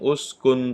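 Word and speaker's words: اسْكُنْ: Nah, kalimat hamzah wasal seperti ini gimana cara membacanya? Hitung huruf ketiga. 1, 2, 3. Huruf ketiganya dhammah. Maka ini bacaannya adalah ketika dibaca waqaf ya, maka dibaca us.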